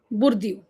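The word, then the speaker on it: Bourdieu: देख ही लेते हैं बुरद बुरद ठीक है बुरद नॉट बोर इट्स बुरद peer peer बुरदू peer बुरदू बुरदू sorry ठीक है।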